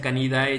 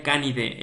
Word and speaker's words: Canidae: se dice familia canidae pero no se pronuncia canidae chicos se pronuncia familia canide el a y la e suenan como una e Entonces no se no se pronuncia la entonces familia canide no canidae eso esz eso es